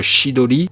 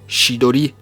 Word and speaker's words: Chidori: Kakashi dégaine direct le Chidori genre il croit qu'il fait peur au chimaru qui ne bouge pas d'un cils plus tard Kakashi va enseigner le shidoli car c'est ça la prononciation VO chidoli à son disciple Sasuke